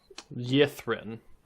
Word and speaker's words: Ythryn: Yithrin. YTH. Adam, would we be level 7 or 8? Level 8. I probably didn't understand. Griffin. Okay. Yeah, so it's spelled YTH. YTHRYN. Yithrin.